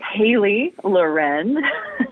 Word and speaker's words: Halie Loren: I get a lot of which I totally understand, but uh it is Haley Lauren and uh like Sophia.